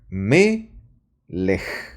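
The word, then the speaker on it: מלך: Acá hay una palabra en hebreo que se pronuncia de la siguiente manera. Aquí está la pronunciación. Me-lej. ¿Ok? Tú ves algo así como un acento, un signo rojo. Un signo sería que menor que, ¿no? En español o en aritmética, que está encima de esta letra que es una mem. ¿Ok? Cada, repito, cada palabra en hebreo tiene un acento. Y en esta palabra, melech, existen dos sílabas.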